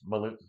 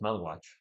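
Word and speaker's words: Maluach: So, Common Maluwatch seems like he could be a Maluch. No, it's Maluwatch. Are you sure? Yeah, Okay. it is Maluwatch. I looked up how to say it. Okay. It's not Maluch. It's Maluwatch.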